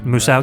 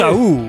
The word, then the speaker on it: Musou: could be some GIF or GIF scenario where it's like, because that's pronounced Uso. Yeah, the M is silent.